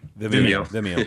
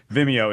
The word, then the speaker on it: Vimeo: say this wrong uh Vio I always say it wrong for some reason Vimeo it's called the speed